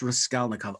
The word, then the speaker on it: Raskolnikov: Rodion Romanovich Raskolnikov. Ah, what fun that is to say. That's the correct pronunciation, correct?